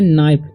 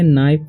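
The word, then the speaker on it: knife: ठीक है इसे पढ़ेंगे नाइफ के उच्चारण नहीं होगा ठीक है तो इसे नाइफ पढ़ेंगे तो इसे पढ़ेंगे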